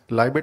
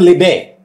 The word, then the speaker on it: Libet: if you could explain with reference to the Libet experiments, where the calculation was made that before the decision was made, the motor neurons came into action and something such.